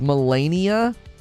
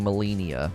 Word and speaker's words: Malenia: tragic and so unenjoyable it's pronounced melania melania great well i just did an open and a recording with me saying molinia melania molinia hey macarena i mean what